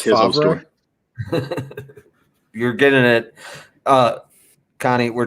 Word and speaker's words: Favre: I mean, you may not be a big fan, but you just I believe it's pronounced Favre.